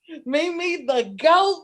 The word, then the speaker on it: Meme The Goat: Have I first off pronounced your name right? Mimi the Goat.